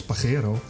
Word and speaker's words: Pajero: In Spanish slang, Pajero, pronounced as Pajero, it means wanker.